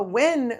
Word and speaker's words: Nguyen: You're just pronouncing it wrong." That's a hard one, though. It is. Win.